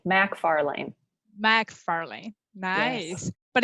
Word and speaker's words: MacFarlane: well everybody butchers it everybody pronounces it as it's an MC but it's Mac M A C Mac Farley Mac Farley nice but